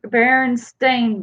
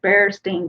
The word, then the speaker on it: Berenstain: so many missed that one it is actually berenstain bears I never really did know exactly how to pronounce it but it is spelled BER e